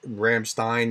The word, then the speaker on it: Ramstein: sorry somebody alert viewer told me Ramstein is like Einstein I mispronounced it the